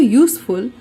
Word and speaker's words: useful: we use a before useful even though it begins with a vowel u this is because the u of useful sounds like the consonant sound u of the word y o u so remember a is